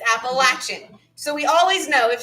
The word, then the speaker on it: Appalachian: depending on where you hail from some will pronounce it appalachian that's wrong and for those of us who know how to pronounce it right it's appalachian so we always know if someone's from here